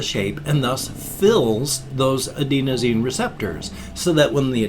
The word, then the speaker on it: adenosine: your body immediately starts producing a chemical called adenosine adenosine however it's pronounced a-d-e-n-o-s-i-n-e this substance as it increases in